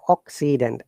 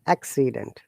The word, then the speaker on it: accident: Let's first say sa, ka, and second say sa, accident, accident. You see? So doesn't you pronounce the words like if they would sound the same and see like C is ka, first say, and second is sa. You see, it has changed.